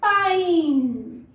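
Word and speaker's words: pine: और अगर हम इसके पीछे लगा देते हैं ई तो ये साइलेंट होता है, बट इसका साउंड चेंज हो जाता है, ये हो जाता है पाइन, ओके, पाइन।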